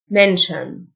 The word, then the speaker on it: mention: وجبة meal meal يذكر mention TIO إن تنطقشن mention ينظم organize organize عبارة